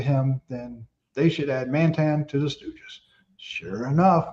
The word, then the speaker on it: Mantan: Mantan, which am I pronouncing that right?